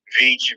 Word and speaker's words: Veach: pronounced Veach, Veitch. It is actually Scottish.